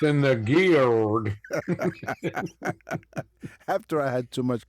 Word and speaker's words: geard: The word garden comes from the Old English, I think it's pronounced geared, Geard, meaning fence, enclosure, or courtyard.